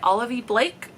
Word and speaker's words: Olivie Blake: masters of death by olivie Blake at least I've heard that's how it's said I could be wrong